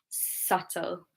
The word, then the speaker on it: subtle: And then with the T rule, so if it's BT, then the B is silent. We have debt, doubt, subtle.